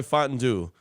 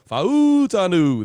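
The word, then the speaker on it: Fautanu: Murphy a terion Arnold tal talu fuaga Troy fantu uh no that's not how you say it fanu f fanu fanu there you go uh sound like that old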